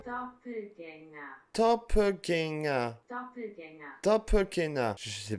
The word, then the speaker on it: Doppelgänger: mot qui est anglais, c'est un mot qui est allemand à la base et ça se prononce comme ça. Doppelgänger.